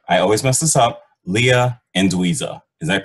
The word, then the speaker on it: Leah Anduiza: clay Chef Leia I always mess this up Leah and dza is that correct that's right thank you all right awesome sorry I butchered it again no problem Anda okay so